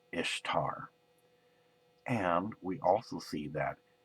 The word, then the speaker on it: Ishtar: in Babylonia the goddess of spring was called Ishtar and we also see that Ishtar was actually pronounced East are in most Semitic dialects so who would be